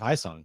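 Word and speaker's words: Ha-Seong: And then every time I say his name, I'll mispronounce it and say Hassan instead of Haisung.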